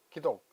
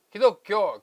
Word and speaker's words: 기독: 부르는데 그걸 우리가 도입해가지고 그것을 중국인들이 발음하는 대로 발음하지 않고 우리는 한자를 우리식으로 발음해가지고 기독 그럽니다. 기독. 기독교.